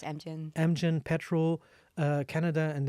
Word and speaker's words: Amgen: and then you were at I hope I pronounce it right. Amgen? Yeah, it's Amgen.